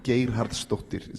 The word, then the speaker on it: Geirharðsdóttir: Pronounce the name again for the audience. Geirharðsdóttir, Halldóra, and she's the daughter of Geirhard, like I'm the son of Erlingsson.